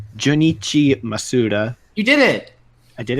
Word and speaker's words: Jun'ichi Masuda: Jun'ichi Masuda.